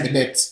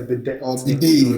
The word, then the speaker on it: bidet: A lot of people do that though, and for with the beauties, they have something called a bidet or bidet.